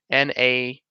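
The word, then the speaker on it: naranjilla: I don't even know how to pronounce that. It's Narajanjilla.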